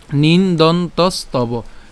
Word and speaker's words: নিন্দন্তস্তব: এরপর নিন্দন, আমরা এখানে যেটা উচ্চারণ করলাম সেটা হচ্ছে দন্তান্ন রসিকা দন্তান্ন পর্যন্ত উচ্চারণ করি, তাহলে নিন। এরপর হচ্ছে দন উচ্চারণ হবে, দন্তান্ন পর্যন্ত উচ্চারণ হবে, তাহলে নিন্দন।